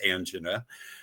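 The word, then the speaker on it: angina: Now, uh, never having felt anga, I'm told that's the way to pronounce anga, um, something wasn't right.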